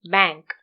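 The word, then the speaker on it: bank: ബാ അങ്ങ് തുറന്നു പറയാതെ ബാങ്ക്.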